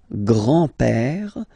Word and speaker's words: grand-père: So, le grand-père, grandfather, le grand-père, remember, accent grave like that, it's this open père, le grand-père, le grand-père.